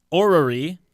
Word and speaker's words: Orrery: Orrery, I'm never quite sure if I'm pronouncing that right. You got it.